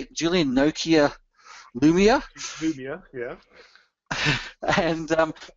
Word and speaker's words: Lumia: Lumia, yeah.